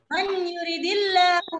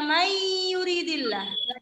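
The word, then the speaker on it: مَن يُرِدِ الله: Man yuridillahu bihi khairan. Semuanya. Man yuridillahu bihi khairan. Tidak dibaca mayuridillah. Baca dong ya, dibacanya biasa.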